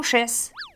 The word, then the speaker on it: chesse: chess comme dans tes croissants sont chesses. Ben c'est sèche mais on le prononce chesse.